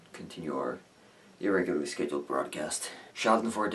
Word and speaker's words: Schadenfreude: our irregularly scheduled broadcast Shelton Ford is a German word and as such it's one of the very few words I know I am pronouncing correctly it refers to the